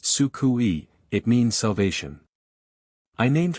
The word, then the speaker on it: Suku: I have decided to call her Suku, pronounced Sukui.